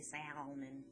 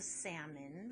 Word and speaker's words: salmon: funky word because it you don't really say the l i don't say salman so it's a salmon but i still have that schwa sound at the end so it's a large